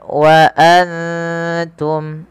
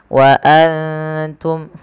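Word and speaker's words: وَأَنْتُمْ: dalam rasum utsmaninya kemudian Wa Antum ada nun sukun yang tidak berharakat bertemu ta kita baca dengan bacaan Ikhfa yaitu cara membacanya menyamarkan suara nunnya kepada huruf ta wa waantum ya seperti itu waantum kemudian jelaskan suara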